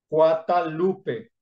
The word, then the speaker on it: Guadalupe: Guadalupe pero resulta que los indios no podían pronunciar la letra g ni la letra d porque no existían en el idioma náhuatl aunque los católicos defienden este punto diciendo que la pronunciación original probablemente fue guatalupe tercera se dice que